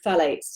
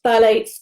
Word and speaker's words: phthalates: The third group is a group called phthalates. It's spelled Phthalates, so it's hard to say, hard